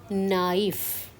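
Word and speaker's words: naïf: So the sound of A is A and sound of I is E. So we have to pronounce both the vowels separately. So the sound would be knife.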